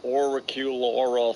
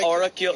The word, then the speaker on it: auricular: It's a therapy you can't even pronounce. Auricular therapy. So I was auricular.